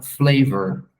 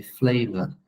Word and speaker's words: flavor: eu falo ã flavor o americano n normalmente já vai falar flavor com esse R forte no final e o britânico sem a pronúncia do r flava que é uma coisa